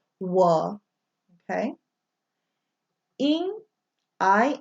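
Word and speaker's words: 我: like SWA one okay UO is always pronounced wah that is the word for I or me in Chinese whoa okay in I n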